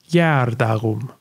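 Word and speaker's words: gēardagum: things first of all when the letter g is written with a dot over it it is pronounced as a yes sound as in young or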